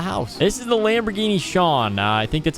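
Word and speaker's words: Sián: This is the Lamborghini Sean. I think that's how you pronounce it.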